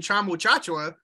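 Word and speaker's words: Tchamwa Tchatchoua: Apparently, he was like Americanizing it for everyone to try to make it easier, but well, I mean, we learned it, Jonathan Chama-Chachua, so yeah, let's say it like that.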